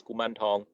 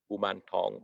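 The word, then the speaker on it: Kuman Thong: In the Chinese pronounce it as Kuman Tong. Kumantong. In Thai, we say Kumantong, right?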